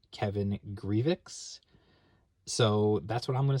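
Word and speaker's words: Grevioux: It was written by, now, there's some difference of opinion about the man's name, but the man himself says it's pronounced Kevin Grievous.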